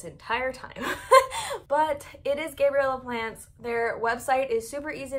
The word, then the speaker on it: Gabriella's Plants: So my number one favorite plant shop to buy from is 100% Gabriella's Plants, which I have been pronouncing incorrectly this entire time, but it is Gabriella Plants.